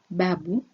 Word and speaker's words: babu: In Swahili, the stress of a word almost always falls on the next to last syllable, as in brackets below. Example number 1, babu is 2 syllables.